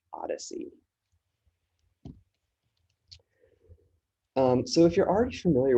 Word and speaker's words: OHDSI: Sciences and Informatics Collaborative, also known as OHDSI, pronounced "odyssey".